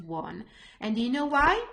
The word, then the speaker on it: ho: So I won't say ho, but I will say o, I, a, anno. So the H is there, but it's not pronounced at all.